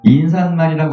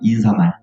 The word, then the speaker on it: 인사말: 지금 보면 오늘 나온 말 중에 그다음에 인산말이라고 안 하고 인사말.